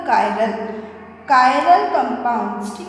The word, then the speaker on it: chiral: यहाँ मैंने एक वर्ड यूज़ किया है CHIRAL, कुछ लोग इसको चिराल बोलते हैं, बट the exact pronunciation is द कायरल, कायरल compounds, ठीक है।